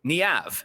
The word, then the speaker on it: Niamh: We meet Niamh. That's how you pronounce her name.